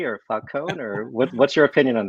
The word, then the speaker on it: Falcone: Is it Falcone or Falcone, or what's your opinion on that? Well, if you're talking in American, it's Falcone, but in Italian it's Falcone.